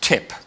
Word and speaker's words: TTIP: find a better acronym ttip will be pronounced as tip I don't know about American English but in British English the tip is not a place you want to be why don't we call